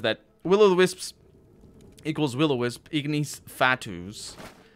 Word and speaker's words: Ignis Fatuus: Ignis Fatuus would be the proper pronunciation.